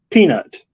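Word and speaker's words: P3NUT: covered okay okay uh you can also pronounce her name as peanut okay okay Quality quality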